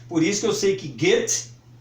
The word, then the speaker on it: Goethe: temos que lidar ele com eles temos que pronunciar corretamente por isso eu sei que Guettho é Guettho como está escrito aqui escreve-se Goethe